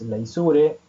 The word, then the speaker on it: leisure: W menos T menos L, esto es una L minúscula, que significa leisure, lo pronuncié muy mal, pero en inglés es leisure, en español es ocio.